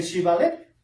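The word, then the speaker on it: Shibboleth: pronunciaba erróneamente por un sonido de S en lugar de SH, pues los exhibía, siendo un indicador único de su dialecto. Sí, porque no podían pronunciar el Shibalet, la palabra.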